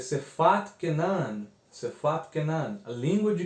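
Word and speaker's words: שפת כנען: os irmãos terem uma noção de como se pronuncia, que é Sefat Kenan, Sefat Kenan, a língua de Canaã.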